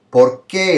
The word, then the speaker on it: por qué: ¿Por qué estudias español? Porque es divertido. So here he's saying por qué. The stress is on que, and here it's on por.